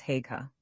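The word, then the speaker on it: Haigha: His name is Haga. He pronounced it so as to rhyme with mare.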